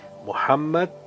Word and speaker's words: Muhammad: Dico Muhammad, pronunciato così ovviamente. Muhammad, primo uomo a essere